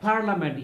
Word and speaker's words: parliament: trade so the last word is parliament parliament here i is also silent parliament tarzan what is